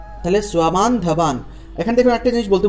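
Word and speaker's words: স্ববান্ধবান্: বয়ম হন্তুম ধার্ত রাষ্ট্রান স্বাবান ধবান, দন্ত্যস্বর নিচে বফলা আছে সেজন্য স্বা উচ্চারণটা হবে স্বা, তয়ের নিচে ব থাকলে উচ্চারণটা তুয়া, তাহলে দন্ত্যস্বর নিচে ব থাকলে সেটা হবে সোয়া, তাহলে সোয়াবান ধাবান।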